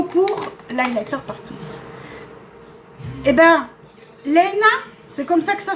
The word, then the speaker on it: Léna: Eh ben, Léna, c'est comme ça que ça se prononce?